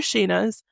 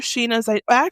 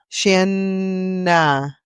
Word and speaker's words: Shayna: Do you know what that sounds like to me? What? Shanna. With 2 N's. It should be Shayna.